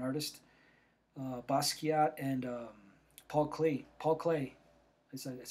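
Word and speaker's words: Paul Klee: he's very important artist uh basat and um Paul clay Paul Clay is that's how it's pronounced um by taking stuff out by putting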